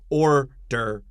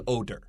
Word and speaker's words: order: So make sure you move that tongue. Order, 不是 odor.